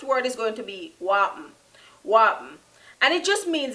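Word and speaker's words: whapn: The first word is going to be wapen.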